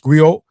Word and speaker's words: griot: I pronounce Grio has been referred to as a historian, a